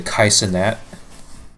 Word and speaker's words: Kai Cenat: is probably like a Kai Cenat. Right. Right. Yeah. Is that how you pronounce his name?